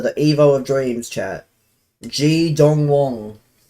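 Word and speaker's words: Ji Dong-won: G Dong Wong. How do you say his name?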